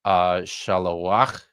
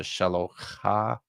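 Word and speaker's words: שָׁלֹחַ: And you notice in my pronunciation of this, I said shalowach as opposed to shalocha. That's all this means. It means that you're pronouncing that you're using the letter, the actual consonant, to close the syllable as opposed to open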